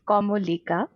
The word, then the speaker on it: Kamolika: pronounced as which is very hard to pronounce i know even for bengalis and my last name is como lika and i have a story for and like